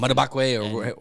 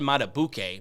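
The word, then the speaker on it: Madubuike: And Madabakwe, or how you say his name? So it's I said Matabuke, but I think it's Matabike. Matabike.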